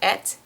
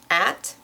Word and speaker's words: at: So it's not et, it's at.